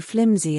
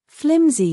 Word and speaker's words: flimsy: Okay, flimsy basically is an adjective. And as you see, the pronunciation is flimsy. Flimsy. It's not pronounced with an s sound, but it's closer to a zed sound.